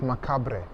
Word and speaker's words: macabre: Dans makabre sanırım. Makabre diye okunuyor.